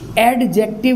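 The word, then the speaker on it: adjective: क्या है बच्चों, एडजेक्टिव, एडजेक्टिव नहीं बच्चों, इसमें डी साइलेंट होता है, एडजेक्टिव, ओके।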